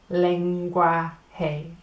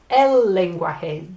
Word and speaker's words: lenguaje: And if you think about our word language, so lang becomes leng, gui becomes gua, and j becomes hey. Lenguaje. Language. Lenguaje. All right, and it's el lenguaje.